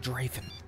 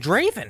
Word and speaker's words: Draven: his last name is still raven it's eric draven is it pronounced the message it's pronounced draven draven okay it's spelled d raven yeah that's